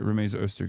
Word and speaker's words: Rumeysa Öztürk: with Mohsen Mahdawi, with Rumeysa Öztürk, right? Like, they're... Wait, did I say her name? I keep saying her name wrong. Okay, no, I did say it right. Rumeysa Öztürk is the person.